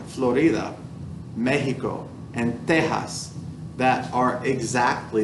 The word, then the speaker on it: Mexico: Florida, Mexico, that X is actually like an H sound.